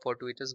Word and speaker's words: fortuitous: सो you have for, you have due, एंड इस पे आपका स्ट्रेस रहेगा। So this is the stress part, then duous, सो fortuitous।